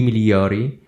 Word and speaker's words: migliori: Okay, so in Italian, I think we don't really pronounce the letter G in situations like that. I might be wrong, but I think it's supposed to be pronounced I migliori.